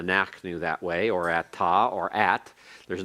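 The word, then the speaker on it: אתה: for the second spelling at TA one has the comments hey one just has the comments everyone pronounce it they're both pronounced Atta then we go the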